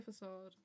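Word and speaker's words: façade: its was- facade was lovely, of course, but more importantly, How do you say- facade. What? Is it facade or facade? Facade. Okay.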